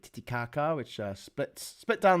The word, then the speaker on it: Titicaca: there you go it's bolivia la paz like titicaca which uh splits split down the middle between